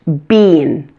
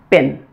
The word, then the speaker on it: been: this word was pronounced bean as in B II am but it's not so you just need to memorize it it's pronounced bin the other really strange